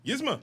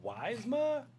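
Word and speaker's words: Yzma: Um, can you pronounce this for me? Yizma. Yizma. Thank you. Isn't it? The first time I did this, I was like, Wisma.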